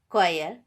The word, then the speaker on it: choir: H is not pronounced when it comes after C, G, R. For example, choir, ghost, rhyme, etc.